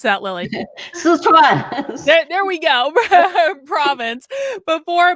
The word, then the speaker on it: Sichuan: She was born to illiterate working class parents in China's western, I'm not sure how to pronounce that, Lily. Sichuan.